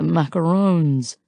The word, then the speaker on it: macarons: his head ah the macaroons by the way kudos for not pronouncing it as if it rhymes with raccoons since it doesn't I laugh and now